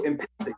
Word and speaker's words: empathic: So empathic, yeah. It's 3 syllables. It's a little stronger, and it doesn't remind people of sympathetic. So it's like it's multiple things at the same time. So empathic is it's like the 4 syllables empathetic.